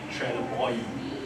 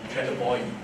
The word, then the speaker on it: Trelleborg: It's actually Trelleborg. So the G they call it E. Trelleborg.